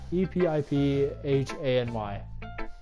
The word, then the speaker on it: epiphany: uh yuri how do you say this word e-p-i-p-h-a-n-y why for me yeah pray for me